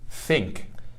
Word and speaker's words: think: Aqui a gente está falando sobre pronúncia. so, the word here would be think.